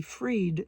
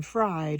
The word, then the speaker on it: Fried: I'm Dr since my last name is spelled f fried and I'd rather be freed than fried and and you would